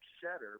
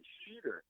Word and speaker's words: Schetter: Now that sounds like Schetter, but it's actually Sheeter.